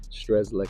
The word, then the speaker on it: Strzecki: you is how you say your last name stres Lei stres Lei I was trying to pronounce it earlier and my tongue got a